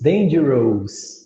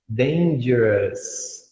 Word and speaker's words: dangerous: Vai falar dangerous, dangerous. Não, tira o O, deixa só o S, que no caso fica com som de us. Dangerous.